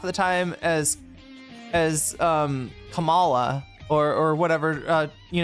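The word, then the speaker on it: Kamala: if anybody ever says, "Hey, it's pronounced Kamla."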